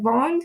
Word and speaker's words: vendent: Nous vendons, vous vendez, il et elle vendent. Again, you don't pronounce the ENT.